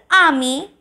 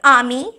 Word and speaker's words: ami: Ninth, ami and ami. Ninth and tenth pronunciation is similar. So, ninth, ami, which means your male friend.